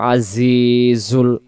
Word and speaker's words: العزيز: গফুর শব্দটা এইভাবে বলবো আজিজুল আওয়াজটা সামনের নিচের দাঁতের জায়গা থেকে হবে আজি জির জির জির